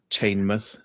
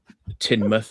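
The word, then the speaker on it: Teignmouth: Um got oded off by a security guard at a mansion down in Tainmouth, Tinmouth as it's pronounced.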